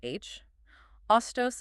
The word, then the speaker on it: Hostos: You add a single silent letter to the front of your name. It doesn't even change the pronunciation.